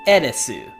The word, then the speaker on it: Aerith: So in that same way, in Japanese, this character's name is pronounced Erisu. Aerith.